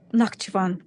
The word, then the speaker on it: Nakhchivan: How do you pronounce that? Nakhchivan, correct, yes.